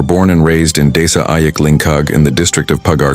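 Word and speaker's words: Ayik Lingkar: The village is embraced by two flowing rivers, Lingkar, pronounced Ayik Lingkag, and Ayik Siam.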